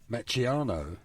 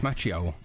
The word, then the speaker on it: Macchio: Macchiano. No, it's not. No, it's Macchio.